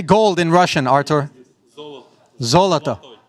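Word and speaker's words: золото: Zoloto. Zlatoy. Not Zlatoy.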